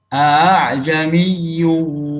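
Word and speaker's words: أأعجمي: Dalam membacanya secara riwayat kita dari guru ke guru itu dibaca dengan mentashil hamzah qata' yang kedua, sehingga bacanya a'jamiyyu wa arabi. Jadi hamzah yang kedua itu tidak jelas hamzahnya, jadi nggak sempurna antara hamzah dan alif.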